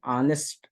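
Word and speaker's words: honest: ऑनेस्ट में देख लीजिए, ये स्टार्ट टू एच से हो रहा है, लेकिन आपने यहाँ पे एच क्या है, हमारा साइलेंट है, ऑनेस्ट पढ़ते हैं इसको।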